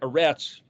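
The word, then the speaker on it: ארץ: uh like the word a rats e-r-e-t-z well that's because it starts with an alif alefresh zadi and it's like eh it's kind of kind of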